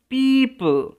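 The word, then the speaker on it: people: That only wise and smart পিপল, উচ্চারণটা কিরকম হবে, পিপল could see, L silent এখানে।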